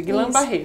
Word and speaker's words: Guillain-Barré: É essa a pronúncia, Guillain-Barré.